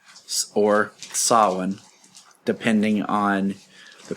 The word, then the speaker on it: Samhain: Or Samhain, depending on the pronunciation and if you're well-versed in the enunciations. Yeah. Most people would say Sam Hain, and then those who know the Celtic would say Samhain.